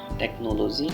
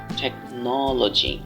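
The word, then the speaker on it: technology: থেকে আমি এটাকে বলবো টেকনোলজি এখানে ন বর্ণে একটু এমফাসাইজ করতে হবে একটু জোর দিতে হবে টেকনোলজি আবার প্রাকটিস উইথ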